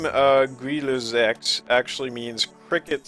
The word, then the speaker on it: Grille Sechs: Let's go ahead and take a look at the Grille Sechs, as it is actually pronounced. I have a bit more to say about this model. So the name Grille Sechs actually means Cricket 6, but the Grille Sechs